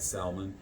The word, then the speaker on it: salmon: the um she had salmon. Salmon. Salmon. Salmon. How are people people I say salmon because there's an L in the in the words. So I'm pronouncing the L.